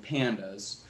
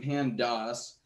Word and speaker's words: pandas: so technically speaking the name pandas stands for panel's panel data so it should be pronounced pandas however i and most people i know pronounce it pandas like the pandas bears because this leaves the